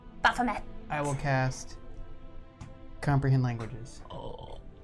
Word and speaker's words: Baphomet: Baphomet. Bafamet.